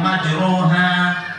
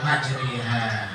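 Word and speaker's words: مجراها: Misalnya tulisannya majroha dibaca majriha.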